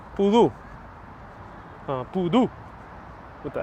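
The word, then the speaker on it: pudú: Not poodle, but poodoo.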